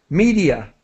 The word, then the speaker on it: media: Media, with an E sound.